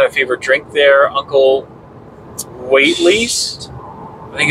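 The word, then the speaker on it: Waithley's: Maybe spell it. W-A-I-T-H-L-E-Y-S. Waitley's? Waitley's? I guess.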